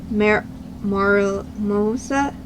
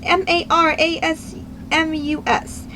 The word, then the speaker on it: marasmus: July 25th, 1866 of Maramosa of a, I cannot pronounce it. It's Marasmus.